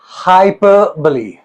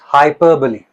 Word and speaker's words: hyperbole: एंड इट इज all about it इज हाइपरबली हाइपरबली सबसे पहली चीज हम इसको मिस प्रोनाउंस करते हैं। इट्स हाइपरबली हाइपरबली नॉट हाइपरबो हाइपरबली okay एक फिगर ऑफ़ स्पीच